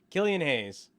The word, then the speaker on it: Killian Hayes: knicks took kobe topping it's like the beer killians oh killian's haze killian hayes see and then relate